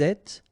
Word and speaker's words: êtes: Vous êtes, little liaison between the two, and then final S not pronounced.